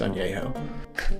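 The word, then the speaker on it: añejo: talk about in ano it's not pronounced Ana it's pronounced ano I know it's pronounced ano for some reason I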